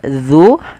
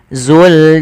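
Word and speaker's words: ذُو: Kemudian pada lafal dzu di sini hati-hati ya teman-teman dalam melafalkan huruf dzal. Jangan sampai ia terbaca dengan huruf zai. Misalkan wabqo wajhuika dul zul jalali. Harusnya dza dzu.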